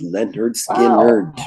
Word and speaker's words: Lynyrd Skynyrd: rich already touched on it's pronounced Leonard skin nerd you have it nice